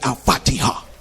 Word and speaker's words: Al-Fatiha: I was like, I'm trying to study Al-Fatiha. That's how you say it, Al-Fatiha.